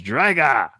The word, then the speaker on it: Drago: but how he does Drago it's drga like with in Russian with like an O at the end they always say it like an A and I don't know why interesting oh okay but